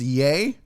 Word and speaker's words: Ye: of several other uh it's pronounced yay oh that's pronounced Yi for Yeezy um is that fungus